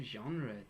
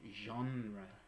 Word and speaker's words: genre: Because it's a French word originally, so we always say it like that.